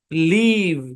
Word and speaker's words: leave: যেমন LEAVE, এই শব্দের উচ্চারণ হচ্ছে লিভ। কি উচ্চারণ? লিভ, আমরা জানি ই এবং এ মিলে ই এরকম সাউন্ড দেয়। হ্যাঁ, লিভ উচ্চারণটা ভি এর উপর এসে পড়লো, কিন্তু এই ইটা সাইলেন্ট, কোনো কাজই নাই, এখানে চুপচাপ বসে আছে।